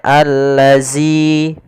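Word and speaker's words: الذي: dza dza dzi dzu hati-hati jangan sampai terbaca dengan huruf Zai misalnya alladzi ya karena di sini bukan huruf Zai Kemudian pada lafal zzi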